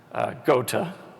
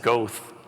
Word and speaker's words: Goethe: gota by the way I had to go to youtube to learn how to pronounce gota I would have said Goethe goth whatever you can do